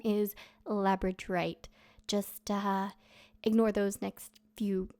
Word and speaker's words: labradorite: the stone incorrectly as labradite. I am well aware now that there is an extra R in there and the actual stone's name is labradorite.